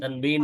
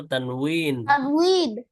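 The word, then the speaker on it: تنوين: তানবিন হ্যাঁ, তানবিন বাংলায় তানবিন বলা যায়, অথবা আরবি উচ্চারণটা আমরা বলবো তানউইন।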